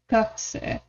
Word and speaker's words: 学生: 学生 Gakusei. I did not pronounce it right. Because once again, it just can't make a U sound that is soft enough and light enough.